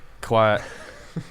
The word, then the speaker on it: Kawhi: Battle LA Clippers, but Kawhi won't win it because he is playing 3/4 the games. He's managing his load. Don't say it like that. Kawhi. So Kawhi Leonard, I don't.